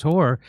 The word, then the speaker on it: Hoar: Please welcome to the show, Chris Hoare. Am I saying that? Am I pronouncing your last name correctly?